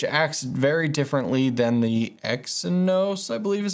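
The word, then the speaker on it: Exynos: the phone which acts very differently than the x and nose i believe is how you say it chipset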